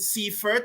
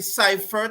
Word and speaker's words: Seifert: Andre pronounced it Seifert. I say Seifert. Again, it's just a matter of opinions.